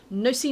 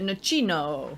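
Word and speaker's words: nocino: question number eight uh nussy now this is how i'm saying it even though i want to call it nichino because i think it sounds better especially with my gino de campo accent there yeah my very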